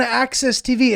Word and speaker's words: AXS TV: It's spelled AXS TV. That's the one thing I hate about that credit is when people are like, "You've seen him on Access TV."